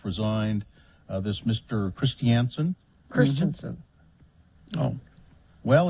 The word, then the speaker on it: Christiansen: Christiansen Christensen oh well it's spelled Christiansen is it okay yeah Christiansen yes it is c h r i s TI a n n uh so I've heard other people say Christensen but I'm going to say